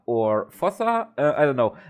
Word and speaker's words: fossa: in the intro the fusa or fossa I don't know I will most likely say fossa throughout this video as is the German yeah the German pronunciation and I know it's fusa in English which always confuses me